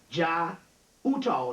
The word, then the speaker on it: Jai Uttal: You need to get a guy by the name of J-A-I, that's his first name, Jai Uttal. The last name is U-T-T-A-L. J-A-I, first name, U-T-T-A-L, Uttal, the last name, and the Pagan Love Orchestra.